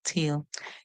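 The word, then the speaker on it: tale: one to a ta the e at the end is silent the a makes a long sound that's why it calls its own name tail this tail is like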